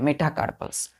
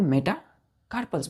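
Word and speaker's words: metacarpals: पांच long bonus को हम क्या बोलते हैं मेटाकार्पल्स are called M ई टी A Meta C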